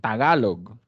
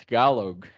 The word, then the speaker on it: Tagalog: it's the same thing Tagalog but if you say that in American accent talog right all right let's